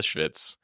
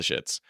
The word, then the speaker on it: schvitz: So the first was the Schvitz, not the shits.